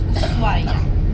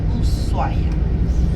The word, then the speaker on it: Ushuaia: Yeah, well, some people will say Ushuaia, but actually it's Ushuaia because well, in Spanish the H is silent and it's Ushuaia.